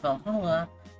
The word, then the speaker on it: VA-11 HALL-A: Holy Uh the name sounds silly and a bit hard to pronounce. Good thing it's actually called Valhalla. The funny numbers and letters are just a code.